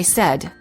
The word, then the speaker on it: said: many warning common mistake the verb say is pronounced with an s sound in the past tense and in the present tense when it is followed by an s for example i say but i said he says don't say i sayed